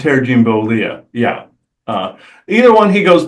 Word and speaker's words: Bollea: The real name is, let's see, Terry how did I pronounce that? Jean Balea. Terry Jean Bollea.